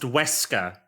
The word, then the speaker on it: Weska: fucking way to have a name that isn't spelled the same, but still is pronounced Wesker.